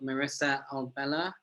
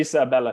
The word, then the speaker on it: Marisa Abella: You've got Marissa Albella, if I pronounce that correctly. Marisa Abella, yeah. Marisa Abella, sorry, my bad.